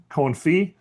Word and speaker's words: confit: So today's word of the day, confit. Use it wisely, appropriately. You can't confit vegetables, and the tea is silent.